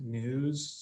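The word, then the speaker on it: NWSS: national wastewater surveillance system wss we pronounce it news so apologies for the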